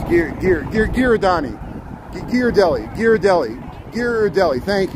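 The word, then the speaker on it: Ghirardelli: thank you gear Deli I was saying gir deli with like a j it's like gear Deli I'm close it's a hard G with the ear so gear Deli I was saying gir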